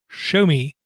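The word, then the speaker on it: Xiaomi: see a company that we're supposed to label as show me and it's spelled xiao8 confuses to quote the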